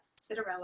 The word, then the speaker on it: Citarella: I am very excited to be here with Alyssa Citarella.